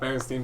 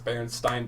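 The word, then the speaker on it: Berenstain: Did you know that it's not Bernstein Bears, it's Bernstein Bears? It's spelled completely differently from how everyone remembers it.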